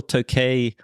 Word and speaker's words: Tokaji: It's a Royal Tokaji Late Harvest 2018.